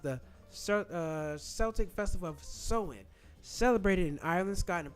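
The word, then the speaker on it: Samhain: Halloween traces back to the ancient Celtic festival of Saman pronounced Soen. Oh, so pronounced the uh Celtic festival of Sewen.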